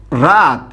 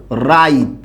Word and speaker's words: রাত: এরপর আরেকটু খেয়াল করুন, আমি আরেকটা শব্দ বললাম এরকম, দেখুন রাত একটা শব্দ আছে। এই রাত শব্দটা যে আছে এইটাকে আমরা অনেকে আবার উচ্চারণ করি কি বলুন তো? রাইত।